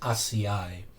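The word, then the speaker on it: açaí: made, my acai bowl, that's how it's pronounced, acai. I know it's a weird spelling, A-C-A-I, acai.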